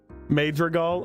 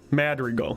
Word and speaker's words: Madrigal: earlier in the story that's that's on me major goal major eagle is that my pronouncing writer is a Madrigal Madrigal or Madrigal made the recall madrigo mad Regal Madrigal okay got it madrigo Belle Antonio called Shiley